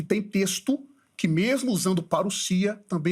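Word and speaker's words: παρουσία: Ele disse que o termo parousia, alguns falam parousia, mas é parousia, porque nós temos o ômicron e o Y, que é um ditongo, que pronuncia isso como U, e o sigma não tem som de Z no grego, é som de S. Então é parousia.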